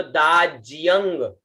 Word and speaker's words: दाज्यं: उसके बाद में शब्द आता है दा, आधा ज और य, और आगे अंग है, ठीक है ना, तो दाज्यंग, य के साथ में ग जुड़ जाएगा और फिर दाज्यंग, है